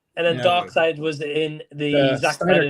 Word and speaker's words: Darkseid: Darkseid.